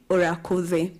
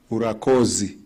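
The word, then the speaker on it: urakoze: In Burundi, we say, orakoze, meaning, thank you. Thank you. Thank you, Muroki. Can you say urakuze? Urakozi. Professor Bebe, you didn't say it correctly.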